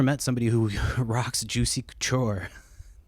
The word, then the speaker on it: Couture: any other brand, man, Juicy Coocher just I know I'm not saying it right. I'm saying it wrong on purpose, but yeah, if you've ever met somebody who rocks juicy couture, like they're never classy and they're never understanding.